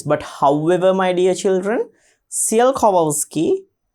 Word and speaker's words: Tsiolkovsky: So given here, Tsiolkovsky, T is silent here, Tsiolkovsky, a Russian scientist. Tsiolkovsky was a Russian scientist, and Goddard, an American scientist, were the pioneers to work on rockets.